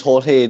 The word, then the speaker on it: Jorge: call him George FK call him George and he says look I'm Cuban my name's Jorge don't call me George so I always called